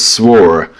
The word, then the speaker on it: swore: So, I just learned it's not war, it's swore.